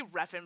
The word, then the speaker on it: Refn: I always say Refn, but I'm never sure if that's like actually how you say it.